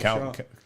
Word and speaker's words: Char: In Japanese it's Shah, but in English it's spelled like Char. Char.